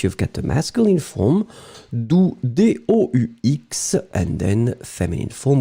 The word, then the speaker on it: doux: So in that case, you've got the masculine form, doux, D-O-U-X, and then feminine form would be douce. Remember, for the masculine form, you don't pronounce the final X, d'accord?